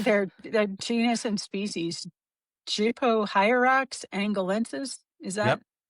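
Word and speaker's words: Gypohierax angolensis: Jupo hierox angalences is that Yep.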